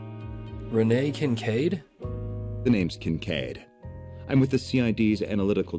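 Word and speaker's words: Kincaid: case oh the C Renee Kincade the name's cancade I'm with the C's analytical division on its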